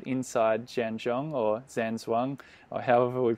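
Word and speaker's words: Zhan Zhuang: practice, which is called Inside Zhang Zhuang, or Zhang Zhuang, or however we pronounce it. You might be able to correct me as well. And that's close enough. You got it. Zhang Zhuang.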